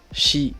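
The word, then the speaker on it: ち: prononce différemment c'est le chi donc le chi c'est sûrement parce que les japonais n'arrivent pas à le prononcer et du coup bah il se prononce comme en français comme dans le mot chat sauf que vous verrez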